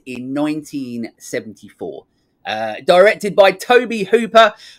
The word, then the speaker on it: Tobe: 1974 uh directed by Toby Hooper who for ages uh because it's spelled differently I called Tobe Hooper um which is uh